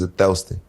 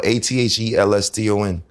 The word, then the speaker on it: Athelston: It sounds like Othello. It's a West Indian name. It's with an O? No, Athelston.